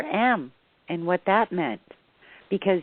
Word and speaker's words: Om: source of all vibration begins with the a sound ends with the u sound.